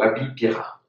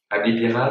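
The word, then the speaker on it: облепиха: Moi, j'adore les thés au Abipira. Ablipira, c'est de l'argousier. C'est un tout petit fruit. Ablipira. Merci, professeur, pour la prononciation.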